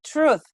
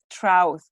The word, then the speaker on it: truth: one b and then truth is not trout it's truth the truth truth and the keys he's